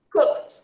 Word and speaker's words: cooked: Cooked. Pronunciation, cooked. Cooked. With T sound.